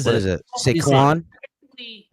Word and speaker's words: Saquon: Do you know how to pronounce that word? Sequin. It's like a sequin off. No. No. What is What it? is it? You say- Saquon.